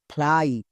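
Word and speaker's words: fly: তাহলে এফ এল এর জন্য ফ্লো। ওয়াই এর জন্য I. Flow plus I. ফ্লাই।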